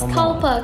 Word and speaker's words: Kalpa: is being butchered but here it is calper k-a-l-p-a thank you very much it's not that hard going forward i think yeah just say kalpa yeah kalpa you know